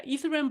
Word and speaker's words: Ethereum: Ethereum? Yeah, Ethereum blockchain.